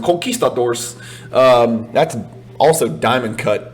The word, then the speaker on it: conquistadors: thought that conquistadors uh and you have to pronounce it like a hispanic person coquistadors that's also diamond cut